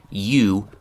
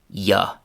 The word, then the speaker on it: you: So in the classroom, your teacher probably uses the classic classroom pronunciation, you, but in real life, native speakers of English don't often say you. Instead, they say ya.